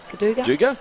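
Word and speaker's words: Goodooga: I think it's pronounced Gaduga? Yeah, well done.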